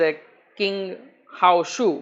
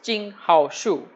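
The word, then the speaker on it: qinghaosu: Chinese language right and in previous case I may have pronounced it as a king how sue but it's actually been pronounced as ching how sure right so that's a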